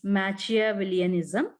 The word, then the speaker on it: Machiavellianism: I'll correct my pronunciation. That is Machiavellianism.